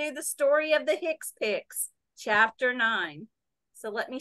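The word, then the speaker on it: HCPCS: only one of the two-part coding system called Hicks picks pronounced expects CMS developed the healthcare common procedure coding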